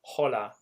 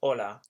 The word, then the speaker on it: hola: to say and now we never pronounce the H in Spanish hence it's not holla it's just hola buenos dias when I'm